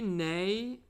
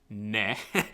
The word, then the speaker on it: ne: Quanti ne, scusami, ne, using too much of an English pronunciation there.